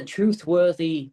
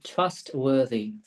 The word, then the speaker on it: trustworthy: Tiếp là cái từ truthworthy, phát âm lại nhé, trustworthy. Trustworthy. Chắc là cũng là nó, chắc là nghĩ đến chữ này đấy, nhưng mà phát âm là truth, là nó là trustworthy.